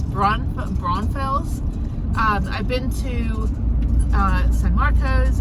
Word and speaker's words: Braunfels: I've been to, which I can never pronounce that right, it's Braunfels.